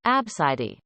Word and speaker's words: ABCD: itself is kinda pretty abcd apparently pronounced like abscidi i feel sorry for